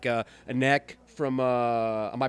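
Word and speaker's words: Anneke: I've heard some great news and rumors about some musicians like Anek from, am I pronouncing her name correct? Anek?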